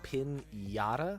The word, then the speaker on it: piñata: I have been saying pin yada with like a yish. Is it pinata or is that just the name of the game is pinata? Is the n noise. So, I have been saying it right, but spelling it wrong.